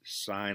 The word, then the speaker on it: sine: right triangle, then the sine of x, students want to say sin x, but it's pronounced sine of x, equals the ratio of opposite side length to hypotenuse length.